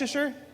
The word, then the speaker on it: Leicester: How do you say, is that Leasher? Lester. Lester.